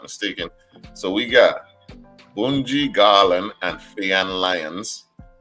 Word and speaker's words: Bunji: So we got Bunji Garland and Fayan Lyons. You guys say it like the Caribbean. You Go ahead. it. Bunji. That's Bunji.